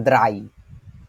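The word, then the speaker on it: drei: phone না এটা হচ্ছে দ্রাই দ্রাই দ্রাই হ্যাঁ ইংরেজিতে একটা কথা বলে না ওই যে শুকনাকে বলে ড্রাই ওইটার মত ড না হয়ে ওইটা দ দ্রাই দ্রাই দ্রাই দ্রাই তারপরে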